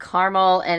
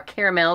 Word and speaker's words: caramel: The first one is a salted caramel or caramel, depending on where you're from and how you say it.